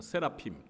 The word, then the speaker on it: 세라핌: 네, 그런데 발음은 스랍이 아니에요. 히브리어 발음으로는 이 스랍들이 세라핌입니다. 세라핌.